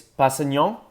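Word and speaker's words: Kpassagnon: But I think it's Passagnon, like K-P-A-S-S-A-G-N-O-N. I always say Nyon because that's like Spanish or French.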